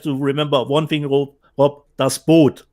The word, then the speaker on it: Das Boot: Das Boot, not Boot, das Boot is the correct pronunciation.